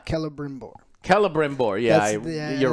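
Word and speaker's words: Celebrimbor: was was wavering right saying it's K huh Kella bmore Kella bmore yeah you're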